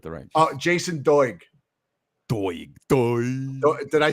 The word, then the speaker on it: Doig: Doig.